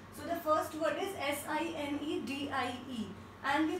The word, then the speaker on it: sine die: So the first word is S-I-N-E-D-I-E and we pronounce it like sine die.